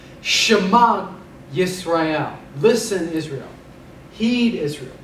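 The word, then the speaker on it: שמע: We give the ayin a slight G pronunciation. So we say Shema, he heard.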